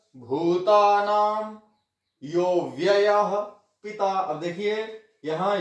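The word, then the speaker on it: योऽव्ययः: आगे ये एस जो है ये है साइलेंट अ, साइलेंट अ अव्ययः, यह प्लस अव्ययः ऐसे है। ये साइलेंट अ का अवग्रह, इसको अवग्रह चिन्ह बोलते हैं। ये साइलेंट अ होता है, हमने इसको बोलते समय अ का उच्चारण नहीं करना। यो व्ययः ऐसे।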